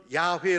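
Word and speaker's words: 야훼: 바로 여호와 라는 것입니다 이것을 히브리어로는 야외 라고 발음을 하게 됩니다 우리에게 이름이 뜻이 저에게도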